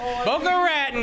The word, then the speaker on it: Boca Raton: Boca Raton, baby.